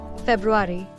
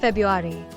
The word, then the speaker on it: February: It's pronounced February, not February.